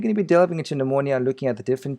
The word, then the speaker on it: pneumonia: urine well of course in pneumonia p is silent hi everybody it's Ryan